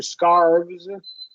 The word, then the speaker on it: scarves: then remember uh um plural noun after a voice consonants we're GNA have a z sound here scarves yeah scarves yeah yeah